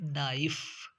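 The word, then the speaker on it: knife: silent हो जाती है जैसे नाइफ नाइफ के एन आई एफ ई नाइफ तो इसमें एन की आवाज आ रही है इसकी नहीं आ रही इसी तरह से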